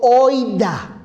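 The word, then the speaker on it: οἶδα: lo que dijo Pedro es una palabra griega que se pronuncia en castellano como hoyda hoy da es la palabra griega para saber aquí cuando Pedro dice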